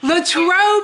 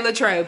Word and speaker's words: Latrobe: Latrobe is how you say it. We were like, how do you say this? Okay, Latrobe, Pennsylvania.